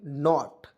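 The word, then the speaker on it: knot: टी तो क्या पढ़ेंगे नॉट देखिएगा की को साइलेंट करेंगे एन से होता है न ओ से ओ की मात्रा टी से ट देखिएगा ओ औ की मात्रा इस नॉट पढ़ते हैं नॉट ठीक है तो देखिए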